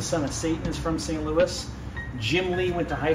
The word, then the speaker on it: St. Louis: it the right way as in American we pronounce it St Louis we have a lot